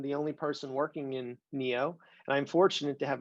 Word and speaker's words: NEO: The team I work on affectionately goes by the acronym NEO. Pronounced Neo, yeah, just like the movie The Matrix.